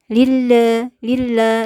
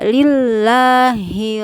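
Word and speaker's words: لِلَّهِ: tetap diucapkan alhamdulillah alhamdulillah lillah juga sama itu kasrah harus sempurna Jadi jangan sampai Lila ya jadi suara lillahi robbah Hai Lila itu terbuka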